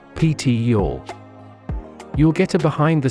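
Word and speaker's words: Pitillal: in the traditional Mexican community of pitol pronounced ptior you'll get a behind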